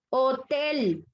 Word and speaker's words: hotel: Hotel.